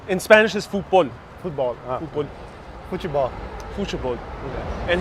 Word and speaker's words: futebol: Futebol. Whoa, that is also very different. How Futebol. How would you say? In Spanish is fútbol.